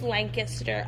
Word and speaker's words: Lancaster: literally try to murder you if you say Lancaster they're like actually it's Lancaster also it's Gettysburg not Gettysburg I used to say Lancaster now I say Lincoln like a bowling league